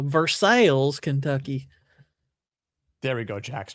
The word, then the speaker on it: Versailles: I hate that we call it Versailles, when I know that's not how you pronounce it.